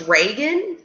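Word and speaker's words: Raegan: My name is pronounced Reagan.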